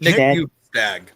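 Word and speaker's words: Bjugstad: Let's get back to, and then the other one, and I'm going to say this name wrong. Wendy, you might need to help me out here. Bugstad? Nick Bugstad.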